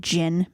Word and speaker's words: Djinn: And it has to do a lot with like ancient Egypt, and I think you pronounce it jinn, but it's like genies.